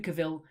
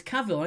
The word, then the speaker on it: Cavill: Number 4, which Netflix drama does Henry Cavill play? I have to say it like you know. It's Cavill, it's not Cavill.